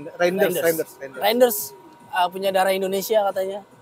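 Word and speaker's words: Reijnders: Bisa Bacanya gimana sih namanya? Reiner. Reiners ya? Reinders.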